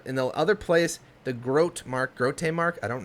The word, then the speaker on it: Grote: do you pronounce it let me see it g-r-o-t-e groat yeah correct maybe that so this